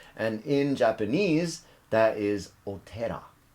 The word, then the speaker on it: 寺: in japanese that is otera the o is honorific the pronunciation of the kanji is tera the other pronunciation is